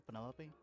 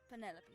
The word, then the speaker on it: Penelope: is that short for penelope officially yes but i never can use it four syllables penelope sounds a little ostentatious coming out of the mouth don't you think